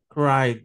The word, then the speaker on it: cried: Cried, ¿verdad? Termina en Y, lo va a pronunciar como cried, ¿verdad? Como una D, cried, ¿verdad?